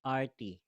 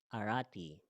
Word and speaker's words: arati: can say in Sanskrit, arti. So, ayan. arti. What is arti? Arti, or we can say pronounce arati, is an offering of respect, welcome, or worship to an exalted person.